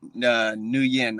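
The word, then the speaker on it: Nguyen: you pronounce his name so he announces it new yen i believe new year okay yeah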